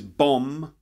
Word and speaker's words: bomb: the first one is bomb a bomb an explosive device the OMB but the B at the end is silent so we end up